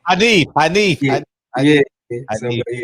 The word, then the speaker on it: Hanif: Rob G Film says Hanif rhymes with plaintiff. Yeah, my name Hanif though. Hanif.